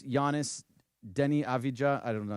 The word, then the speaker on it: Avdija: And then it's Giannis, Denny Avdija. I don't know how to say it. Avia, thank you.